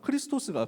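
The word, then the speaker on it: Χριστός: 스랄은 발음하고 좀 비슷하니까 크리스 토스가 그리스도 것 은 그리스도 라는 말을 헬라어로 발음하면 크리스 토스 예요 그리스도가 맞냐 아니냐 예수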